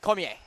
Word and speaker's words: Cormier: And I will mention the pronunciation on our sheet is Cormier, but I believe that the more French pronunciation, as I do work with a French teacher at a French immersion school back home, is Cormier.